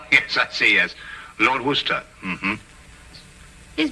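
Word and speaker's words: Worcester: where sister oh yes I see as Lord Worster mhm his M be fit to be hog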